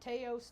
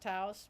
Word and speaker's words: Taos: it's not me they got they call it teos time and I understand it's pronounced Taos but people are just so I just think